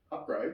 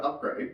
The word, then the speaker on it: Upgrayedd: Upgrade. Upgrade. They just developed some stupid thing. Upgrade is spelled UPGRAYEDD.